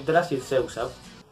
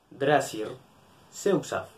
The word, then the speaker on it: Drahcir Zeuqsav: Soy Drasir Seusaf. ¿Por qué les es tan difícil pronunciarlo? Drasir Seusaf.